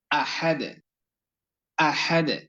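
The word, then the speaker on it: أحد: যে বিষয়টি বলছিলাম যে আহাদ এই শব্দটির মধ্যখানে বা মাঝখানে যে অক্ষরটি রয়েছে যে হরফটি রয়েছে অক্ষরটির উচ্চারণ আমাদেরকে গলার মধ্যখান থেকে গলার মাঝখান থেকে শসা আওয়াজ করে সুন্দর করে বলতে হবে সুন্দর করে পড়তে হবে আহা আহা উচ্চারণ যাতে এমন না হয় যে আহা আহা আহা নয় আহাদ আহাদ এবং হামজা অক্ষরটির উচ্চারণ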